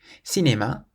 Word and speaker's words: cinéma: of an E or an I, then you pronounce it S. For example, c'est. C'est means it is. C'est. Or cinéma. Cinéma means cinema.